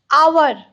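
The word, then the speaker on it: hour: आवर, आवर में ये H silent है, इसका प्रोनाउंसिएशन नहीं होता है, ओ जैसे सुनाता है आवर, इसीलिए एन बैठेगा.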